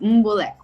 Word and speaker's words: Mbolekwa: mess it up yes my last name is moon Bullock wow look at you now and that originates